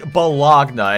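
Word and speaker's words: bologna: said it was optional it's complete balogna and yes I know it's pronounced baloney I'm going to put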